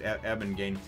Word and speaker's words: Abengane: I wrote it down, but I think it's pronounced Abengane. Anyway, Gon and Bisky wind up running into Abengane.